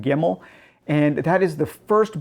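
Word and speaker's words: Gemmell: And this was my very first David Gimmel or Gimmel. I've heard it pronounced both ways. I have always said Gimmel.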